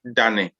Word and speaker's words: dane: So turning in Chi is dane. Dane. Da. Very da. Ne. Dane. Yeah.